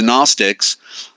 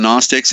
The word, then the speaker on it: Gnostics: the or abhorrest of the Gnostics there's a silent G for the Sun for